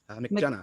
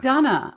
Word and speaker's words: McDonough: And Adam, your last name is pronounced McDonough? McDonough. McDonough.